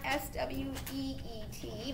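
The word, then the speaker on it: suite: prelude texture impressive interlude sweet not s-w-e-e-t but s-u-i-t-e sweet expressive sonata operetta romantic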